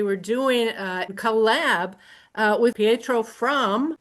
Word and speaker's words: Pietro: Is it Pietro? Okay, it's Pietro.